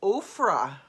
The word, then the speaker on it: Ophrah: Came and sat down under the oak in Ophrah. Remember, spelled like Oprah, but with an extra H in there.